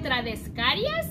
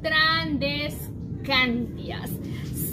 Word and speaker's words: Tradescantias: Si en el video no lo pronuncio bien, discúlpenme, pero es que yo le decía Trandescarias y es Trandescantias.